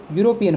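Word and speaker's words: European: अब देखिए इसकी स्पेलिंग तो ई से शुरू हो रही है, लेकिन अपन इसको बोलेंगे तो क्या बोलेंगे, यूरोपियन बोलेंगे। क्या बोलेंगे, यू, यानी यू की ध्वनि निकल रही है, इसलिए इसके आगे भी क्या लगेगा, ए लगेगा।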